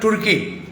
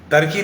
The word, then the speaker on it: तुर्की: मुजफ्फरपुर में आरटीजीए medical college hospital तुर्की टर्की नहीं है तुर्की है।